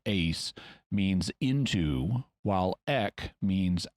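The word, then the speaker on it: εἰς: In Greek, Eis, or to pronounce it a little better, ace, means into, while ek means out of.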